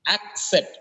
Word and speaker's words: accept: Sol by I acceleration c e accept it is not accept it is accept accept access AIS okay